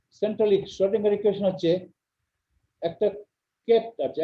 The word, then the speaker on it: Schrödinger: তাহলে Schrödinger equation SCH আর উপরে দুটো ফোঁটা, এটা জার্মান, Schrödinger, শ্রু না, শ্রয়, অয়, অয়, ও না, Schrödinger, শ্রয়, অয়, Schrödinger ইকুয়েশন। এভাবে উচ্চারণ করে Schrödinger ইকুয়েশন।